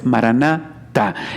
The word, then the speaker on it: Maranatá: Pero bueno, la palabra, como tenemos que pronunciarla, es Maranatá.